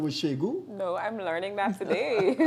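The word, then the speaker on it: Segun: Shegu, you know his first name was Shegu? No, I'm learning that today. How do you spell Shegu? S-H... S-E-G-U-N. S-H-E... Using English alphabet. You pronounce the N, Shegun.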